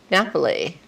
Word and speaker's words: Napoli: want to say it i'll say naples it is naples those in italy say napoli but this is the